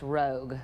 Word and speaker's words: Rouge: It's actually pronounced rogue.